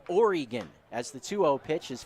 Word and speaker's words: Oregon: of the state oregon it's not organ oregon as the 2-0 pitch